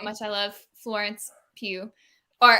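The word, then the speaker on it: Pugh: she pronounces it paul i think it's pronounced pew like hue hey maybe maybe it's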